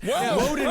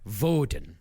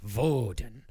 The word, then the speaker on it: Woden: Except it's pronounced Voden. Oh. Uhhuh. Yeah. But in the German way, Voden.